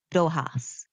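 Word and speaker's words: Dòchas: C H A S pronounced dohas.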